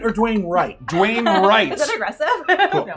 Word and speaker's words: Dwayne Wright: pronunciation. And is it Dwayne Knight or Dwayne Wright? Dwayne Wright.